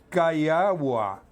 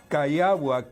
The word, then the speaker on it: Cayllua: Se trata de Wilmer Cayagua. Wilmer Cayagua. Cayagua se escribe Cayllua.